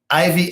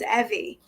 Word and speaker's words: Evie: I present you Ivy. Well, good afternoon, Mr. Charles. How are you? And it's pronounced Evie. Evie. Yes.